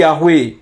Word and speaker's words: Yahweh: Dan namanya bukan YHWH, tetapi Yahweh. YHWH itu transliterasinya karena berasal dari huruf Ibrani Yod He Waw He. Ibaratnya seseorang bernama Yanto, bukan YANTO, karena YANTO itu hurufnya, bukan bunyinya atau pronunciation-nya.